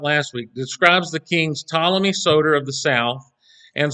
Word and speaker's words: Ptolemy: while he's there he helped ptolemy uh or solomy i think is how it's actually pronounced with the pt there i i don't know